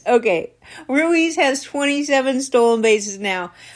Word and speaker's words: Ruiz: his name rui Lenny says say his name Ruiz okay Ruiz has 27 stolen bases now five games still